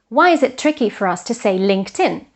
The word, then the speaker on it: LinkedIn: they should imagine that this T or D belongs to the following syllable, to the following word. So it's not linked in, which is a bit tricky, but LinkedIn, which is actually easier to pronounce.